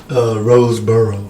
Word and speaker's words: Roseborough: Oh, it's just Roseborough. Roseborough.